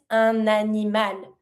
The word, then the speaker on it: un animal: An animal is un animal. Starting with the vowel, I connect my N with my word animal, un animal.